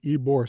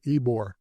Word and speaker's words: Ybor: The reason it's called Ybor City, the guy who owned the cigar factory, his name was Vicente Ybor. There it is. Ybor being spelled Y-B-O-R, but a Y in Spanish is pronounced E.